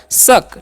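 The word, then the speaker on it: suck: अब लिखा हुआ है एस यू सी के इसे सुक नहीं पढ़ना है एस का चन स करना है यू का अ सी के भी रहेगा तो उसका चन क कर देना है तो क्या हो गया शक ठीक है और शक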